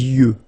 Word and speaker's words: yeux: Les yeux. Okay, final X not pronounced.